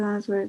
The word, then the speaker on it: answer: First, you have to answer the question. Next, you hand in your paper. Be careful here. We don't pronounce the W.